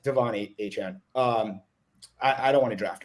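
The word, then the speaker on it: Achane: It's A-Chan. I know there's been a lot of debate. How do we say his name? It's not A-Can. It's not A-Chain. It's A-Chan, like 4chan, but A-Chan.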